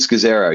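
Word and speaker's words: Scazzero: And I would highly recommend the book Pete Scazero. Is that how you pronounce the name? That's it. Pete Scazero.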